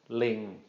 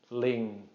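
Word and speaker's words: ลิง: sonorant sounds and so this is gonna be pronounced Ling Ling Ling okay the word Ling entire means monkey all right just again you probably notice I'm not drawing that out just a short mid-tone Ling Ling Ling not drawing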